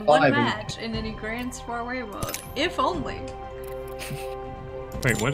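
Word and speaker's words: Grand Soirée: Hey, Grand Grand Soiree. Person who speaks French, would you like to correct my pronunciation? Yes, Grand Soiree.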